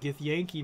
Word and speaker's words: Githyanki: Now he's up against this Githyanki, which is the way you pronounce that, Githyanki mage.